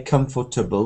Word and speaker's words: comfortable: In fact, we don't say comfortable, we say comfortable. With comfortable, you can try to make it 3 syllables. Comfortable. Because the second is very, very... You only use it to join so it's almost gone. It's comfortable. Not comfortable and not comfortable, but just comfortable. So that is 1.